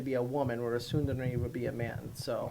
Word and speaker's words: tsundere: A tsundere, which is exactly how it's pronounced, is a male version of this character.